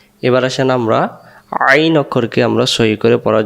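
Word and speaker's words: عين: তাহলে আমরা আইন অক্ষর হলকের মধ্য থেকে একটু চেপে পড়তে হয় আইন।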